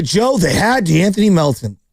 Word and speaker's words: DeAnthony Melton: you know, look, everyone say Joe, they had DeAnthony Melton, DeAndre Melton, whatever. I always say it wrong. What is it? The Anthony Melvin.